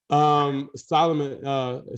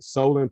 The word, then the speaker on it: Solon: Solomon Solon, I got to make sure I pronounce his name right. Solon Page has done a great job.